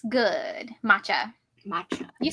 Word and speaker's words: matcha: Matcha.